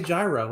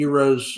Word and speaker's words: gyro: know I get that the right way to say it is Euro but I'm just I say gyro and I'm not going to change I have nothing to